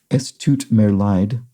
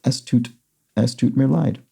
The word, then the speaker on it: Es tut mir leid: German EI is like the English I, and German IE is like the English EE.